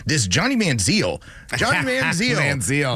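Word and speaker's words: Manziel: everyone's like this Johnny manzal Johnny manzal when I heard Manzel I was like I need to stop that right now this dude's hit Heisman like you got to say his name correctly I want more Mike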